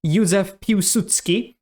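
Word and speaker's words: Józef Piłsudski: Polish politician Ysef Pudutski proposed inter. That pronunciation was not bad at all. It wasn't perfect. It's Yuzsephutski, but it was good enough, which was sort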